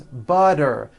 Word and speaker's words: butter: So if a letter T falls between 2 vowel sounds, which are voiced, so if it falls in the middle of vowels, then the T is pronounced as a D and the whole word is voiced.